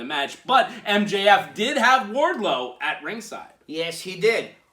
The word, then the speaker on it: Wardlow: John Moxley realized Warlord. Am I saying it correctly? Wardlow. I'm going to make sure. It's very close to Warlord.